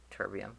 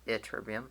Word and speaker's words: ytterbium: pronounce it yeah yeah terbium but it's ytterbium like an eye not like a why and I even though it is spelled with a Y but it said like an eye okay now friendly about